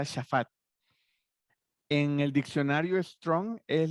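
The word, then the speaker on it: שָׁפַט: Dice juez, la palabra hebrea, bueno, ahí dice juez, en hebreo se pronuncia shafat.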